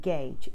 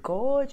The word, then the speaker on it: gauge: temperature of this water gauge g8u GE so people pronounces Gorge or whatever else but it's d8 u GE gauge the next one is